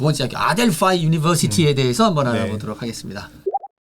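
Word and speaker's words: Adelphi: 고원입니다 반갑습니다 이제 아델피 이거 아델피 맞아요 아델 아델파이 아델피 뭐예요 아델파이네 실제 발음은 아델파이 아고 합니다 제가 그래가지고 구글에 찾아봤어요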